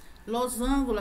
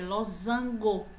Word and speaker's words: losango: asteristico não é asteristico losângulo aquela figura geométrica é Losango a superstição Ah tá